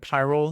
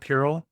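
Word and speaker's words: Pyrrole: Py roll. I don't know what that means. Py roll. Oh, that's how you say it. Py roll. Not pur.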